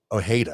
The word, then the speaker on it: Ojeda: So when we come back, Richard Ojeda, am I saying it correctly?